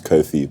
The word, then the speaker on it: Kofi: school my name is Kofi but everyone back then pronounced it like coffee like the drink and uh my brother